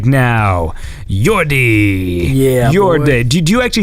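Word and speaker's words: Jordi: Do you actually say like Yordi or is it like Yorde? Yordi. Yordi. Like it is a strong D sound. Yeah, it's a more of like a strong O.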